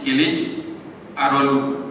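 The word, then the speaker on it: Kılıçdaroğlu: C enggak ada jenggot itu bacanya seperti jim. Kemudian G gak apa? G yang ada tanggap itu dia seperti H ya. Jadi kilij arolu sebagaimana Erdohan enggak boleh g-nya bunyi.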